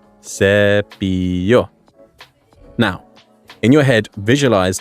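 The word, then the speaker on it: cepillo: sep SE well SE is spelled with a double L hence why it's pronounced like a y SEO now in your head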